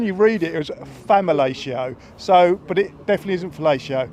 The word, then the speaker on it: Famalicão: I think you're going to have to be careful with the pronunciation. Can you remember it? It's Famalicão.